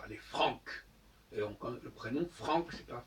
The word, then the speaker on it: Francs: Puisque nous descendons des Francs, et les Francs, comme je disais tout à l'heure, ça se prononce avec un K, les Francs.